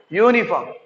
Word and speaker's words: uniform: Here also this is not uniform, this is uniform.